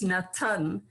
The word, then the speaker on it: natan: word meaning to give which is natan and it's a five-letter word whether you spell it in english or in hebrew mean you can read it backwards as well as forwards